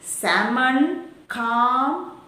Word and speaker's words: salmon: rule rule number four when l comes between a and m l is not pronounced almond salmon palm etc silent letter